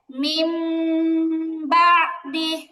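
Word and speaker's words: مِنْ بَعْدِ: বলছে কি নুনটাকে মিম বানাবে, পাশাপাশি হচ্ছে গুণনা করে পড়তে হবে। ছোট একটি মিম দিয়ে পরিবর্তন করে গুণনা করে পড়তে হবে। তাহলে এটার উচ্চারণ হবে মিম বা দি।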